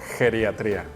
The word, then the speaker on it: geriatría: Pues mira para empezar se escribe con r geriatría porque en muchas ocasiones me ha tocado escuchar que las personas los lo dicen o lo pronuncian con d con la de intermedia Por así decirlo no entonces pues